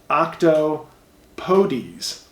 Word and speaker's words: octopodes: is not octopi technically the formal plural would be octopodes pronounced octo podies oh I pronounce it